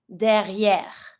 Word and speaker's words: derrière: Careful with the R. I know the R can be sometimes kind of tricky. R, we pronounce each R in a word. So behind, derrière. but don't pronounce the final E. Same thing as usual. E that has no accent on it, you don't pronounce it.